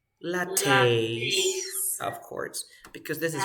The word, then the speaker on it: latte: say Cafe if you have latte you say latte of course because this is French okay okay